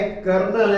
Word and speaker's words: colonel: इसका क्या है, कर्नल है, लेकिन उसमें आर ही नहीं आता है।